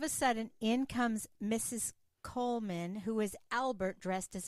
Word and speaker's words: Goldman: I thought the D was silent. It is pronounced Coleman, isn't it? We've had some confusion. Oh, yes, Coleman. The D is silent in America.